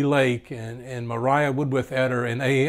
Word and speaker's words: Maria: her and of course we pronounced it they pronounced the name mariah but it was actually spelled like we would say maria maria or Mariah would worth